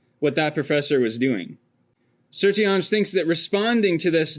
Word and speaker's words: Sertillanges: Dominican Father Antonin Gilbert Sertillonge. And it looks like it's spelled Sertillanges, but that is not how it's spelled.